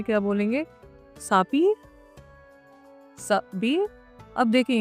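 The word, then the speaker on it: s'habiller: सापी, साबी। अब देखिए, यहाँ पे एक चीज का ध्यान रखिएगा, हेयर एच इज साइलेंट। मैंने आपको अपने पहले वीडियोस में भी बताया है, एच हमेशा साइलेंट रहते हैं।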